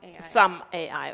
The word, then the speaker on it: SUM-AI: alle verständlich werden durch SUM-AI, habe ich das richtig ausgesprochen? SUM-AI, okay, ich dachte, das Doppel-M würde die deutsche Aussprache nahelegen.